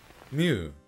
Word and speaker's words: mu: case that it makes me mad yeah that's my fun fact mu pronounced me in modern greek actually came from the